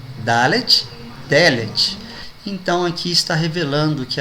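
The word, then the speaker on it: דלת: E porta em hebraico se pronuncia Delet. Veja que muda só o A para E. Dalet, Delet.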